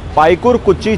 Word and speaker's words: Paikarkuchi: This area is called Paikarkuchi Chowk. Yes, I pronounced it right!